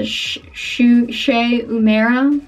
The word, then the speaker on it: Shu Uemura: anymore but I use this this is they pronounce that the shushei mara you probably know them from their eyelash curlers